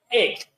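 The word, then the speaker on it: ἐκ: El número que corresponde a entre los 7 es G1537, que es el griego 1537, que en el griego se pronuncia ek.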